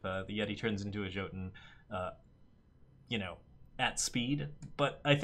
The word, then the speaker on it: Jotun: Yeti into a 6/6 Jotun, or Jotun. The campaign pronounces it, by the way, both ways. It is pronounced both Jotun and Jotun in the campaign, so you have no confirmation of which one is correct.